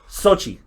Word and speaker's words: Xochitl: How do you pronounce her name? I'm white, so I don't know. Sochi, because that's her first name.